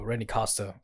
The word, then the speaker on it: Costa: No, Randy Costa. That's how you pronounce it.